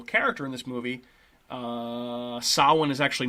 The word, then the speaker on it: Samhain: too too similarly so sawin is uh in gaelic of course which has all kinds of weird pronunciations that even uh i as an irish person do not uh do not understand all the pronunciations sometimes feel like i need to research them but samhain is actually spelled s-a-m-h-a-i-n which is where sam sam